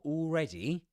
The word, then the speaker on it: already: So already is pronounced with this short E.